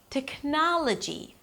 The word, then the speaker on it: technology: Technology.